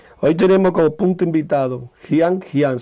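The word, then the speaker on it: Jianjing: Hoy tenemos como punto invitado, Jian Jian se escribe. Hay muchos que pronuncian Chian Chin, Chian Chin, punto 21, vesícula biliar.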